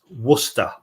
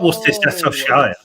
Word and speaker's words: Worcestershire: It's pronounced Worcester, not Worcestershire.